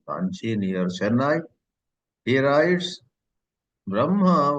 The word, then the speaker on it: Brahma: He writes, Brahma while writing has her coming first and ma next, but while pronouncing the right ucharana is you got to pronounce ma first and her next.